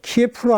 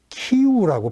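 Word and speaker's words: 키이우: 사는 사람들 자 수도는 전에는 우리가이 전쟁 나기 전에는 다들 저 키예프를 알고 있었는데 우크라이나 현지 사람들은 키우라고 발음하니까 우리도 거기에 맞춰서 키우라고 그러죠요 밑에 크림반도라고 말씀드렸지만 면적은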